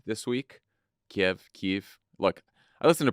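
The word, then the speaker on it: Kyiv: bit more about Biden's uh secret trip to Kiev this week Kiev Keith look I I listened to prod save the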